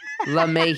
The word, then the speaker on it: LeMahieu: la Mae Mayhew you la may you know not la la la la la it's like love but uh LeMay here let me LeMay